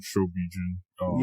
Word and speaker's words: Shobijin: Oh, I really love the Shobijin. Yeah. I pronounced that right?